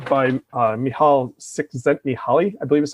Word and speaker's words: Csikszentmihalyi: And I always go back to the book Flow, never going to say his name right, by Mihaly Csikszentmihalyi, I believe is how you say it, the psychologist.